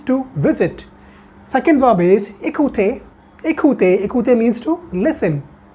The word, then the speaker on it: écouter: Second verb is écouter.